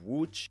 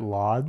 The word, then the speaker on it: Łódź: We totally called it Lodz. We would, yeah, Lodz. Łódź. Łódź.